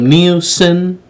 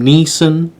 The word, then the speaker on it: Neeson: bruce wayne slash batman alongside michael kane liam nielsen um my apologies liam neeson katie holmes gary oldman uh sillian murphy tom